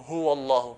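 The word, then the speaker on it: الله: If the letter before Allah is a fatha or kasra, for example here, is a fatha here, okay, the letter before Allah is a fatha, we pronounce it in a heavier. So, huwa Allah, qul huwa Allah, huwa Allah, we put pressure.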